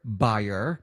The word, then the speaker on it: Bayer: that's a mouthful and germans pronounce bayer buyer but we're going to stick with bayer so anyway ask bio